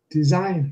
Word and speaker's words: design: Design. No, we can't go there. Design has the stress on the second syllable.